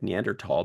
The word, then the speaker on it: Neanderthal: and human cloning Neanderthal We spelled it without the H so it sounds like Neanderthal because that's how it's